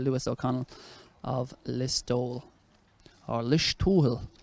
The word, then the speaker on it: Listowel: Or Listowel. Listowel, yeah. Outstanding pronunciation there from...